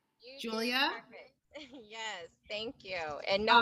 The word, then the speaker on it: Jewlya: And please let me know if I pronounced it correctly. Jewlya?